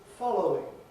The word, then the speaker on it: following: beginning with following right if i say the word following in isolation firmly and clearly i've certainly got three syllables but when i talk about the following paragraph following i've dropped out that middle circle and gone